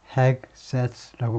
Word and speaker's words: Hegseth: 트럼프 픽스 Pete Hegseth라고 발음하는데, Hegseth, a veteran and Fox News host for Defense Secretary, 국방장관으로 임명했다는 건데요.